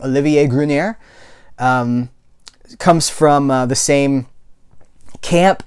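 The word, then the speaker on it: Olivier Gruner: This is, I believe we would pronounce his name Olivier Grunier.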